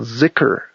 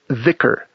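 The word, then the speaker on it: ذكر: That whole activity of dancing and chanting with the goal of developing high concentration is called zikur in Arabic. Z i kr or in some dialects it's pronounced vicar. Dh i kr.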